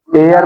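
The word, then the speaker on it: heir: एयर माने क्या होता है? उत्तराधिकारी। क्या होता है? उत्तराधिकारी। स्पेलिंग देख लो। लिखा क्या गया है? पढ़ा क्या जा रहा है? एयर एस हो जाएगा।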